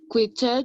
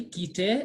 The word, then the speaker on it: quitter: Remember when letter Q and letter G, so letter U, the U is silent, you can say the next word. So the U is like it's not existing when it comes to the spoken French, okay? So we say quitter, okay?